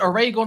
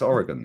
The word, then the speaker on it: Oregon: you mind if I do this big up Oregon goon um bless up my boy BL up is is it oron or is it Oregon it's Oregon is in America is in Oregon America bro